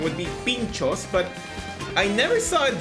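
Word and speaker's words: pintxos: So I knew that the pronunciation would be pinchos, but I never saw it written like this.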